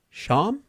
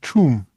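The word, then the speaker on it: Cham: I think this is the one person in How do you think you pronounce this? C H A M. C H A M. Yeah. Sham. Well, it's Chum. Chum. Don't ask me why. It's Chum. In Zug.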